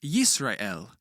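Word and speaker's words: ישראל: The answer is Israel because a shwah found in the middle of a word coming after a short vowel is always silent.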